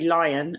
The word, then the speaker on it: Lyon: to look at Mary Lyon and that's how I'm going to pronounce her name even though it looks like Leon but she is in